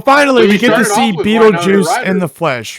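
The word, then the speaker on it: Betelgeuse: It's Beetlejuice. It's spelled like the star.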